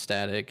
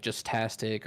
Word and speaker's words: JuztStaTic: heard a lot of people pronounce my name wrong they'll be like just tastic or something like that so like